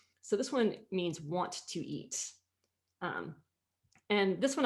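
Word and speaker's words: は: So I'm saying I, and this is pronounced actually wa. This is one of our very few exceptions to the hiragana pronunciation rules.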